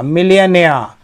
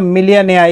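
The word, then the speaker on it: millionaire: इसका जो सटीक प्रोनाउंसिएशन है वो ऐसे होगा, मी, फिर ली, फिर आ, फिर ने, आ, मिलियनियर। ठीक ना। जब भी आर के पहले कोई वाउल साउंड होता है तो आर को उच्चारित नहीं किया जाता है, नियम तो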